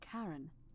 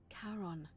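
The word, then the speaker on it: Charon: Only your pronunciation is a little off. The name you heard wasn't Karen. It was C H A R O N. As in Karon, the fairyman of the dead.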